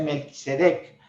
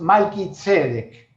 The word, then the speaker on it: Malquisedec: A veces se traduce Melquisedec, pero en hebreo bien pronunciado es Malquisedec, rey de justicia.